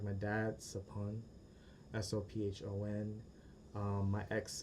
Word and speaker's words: Sophon: If you know other Cambodians, a lot of them have the same SOPH prefix, like my dad, Sapun, SOPHON, my ex, Sapi, SOPHY, and one of my besties, Sapik, SOPHEAK.